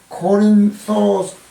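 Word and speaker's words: Κόρινθος: 호소가 전혀 남아 있죠 고린도는 영어로는 코린스 그리스어로는 코린소스 뭐 이렇게 발음이 되는데 그리스의 고대 도시로 교통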